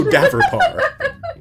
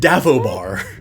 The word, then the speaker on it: Daverpar: Maro Daverpar. That's what I said. You said Davobar.